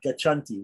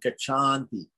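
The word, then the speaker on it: गच्छन्ति: we don't want that we only want kachanti we don't want kachandi so it's kachanti so anyway don't whichever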